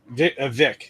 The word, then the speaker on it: Kvik: Vic. It's pronounced. Oh, you don't pronounce the K.